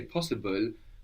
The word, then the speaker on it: possible: When we say possible, we pronounce a vowel between the B and the L. Possible. No, there's a vowel there, but we don't write it.